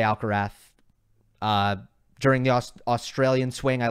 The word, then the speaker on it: Alcaraz: My question is, why do so many people mispronounce Alcaraz or Alcarath? He pronounces it Alcarath.